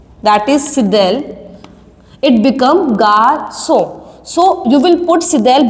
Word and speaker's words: garçon: Without this accent we will pronounce that word garçon. But when you will put the accent, that is sidel, it become garçon.